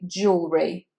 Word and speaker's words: jewellery: But here in the UK we say jewellery. Jewellery. So that E is said as oo. Jewellery. Jewellery. I love jewellery.